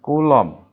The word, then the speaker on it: Coulomb: gaya gitu ya gaya coulomb tulisannya gimana gini ya oh Kowloon nah ini ya mungkin kayaknya ya gaya Kulon membacanya kulomang gitu ya membacanya Coulomb nah eh apa sih